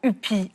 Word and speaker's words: Ypi: Bonsoir Léa Hupi. Je précise à nos amis artésiens que le Y se prononce U.